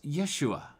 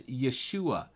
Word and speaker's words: Yeshua: joseph was hebrew and the hebrew name is yeshua yeshua sometimes people say it is yeshua you uh if you